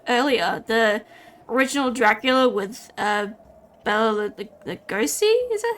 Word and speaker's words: Bela Lugosi: The original Dracula with Bela Lugosi, is that how you say it?